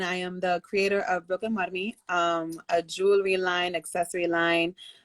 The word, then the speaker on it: BrooklynWarmi: And so first and foremost, everybody, before we get started, this is from BrooklynWarmi. Am I pronouncing that right? Yes, you're? pronouncing it right. Yes. BrooklynWarmi.